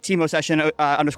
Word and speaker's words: Movsessian: Just my name, so Movsessian _ OCR. There's a V in there, which is confusing, but I'll Yes. link it below. Yes, V is silent.